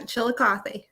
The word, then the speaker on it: Chillicothe: was talking up this Brewer at is it pronounced Chillicothe because I'm new to the yeah Chillicothe Chillicothe he was talking about this Brewer that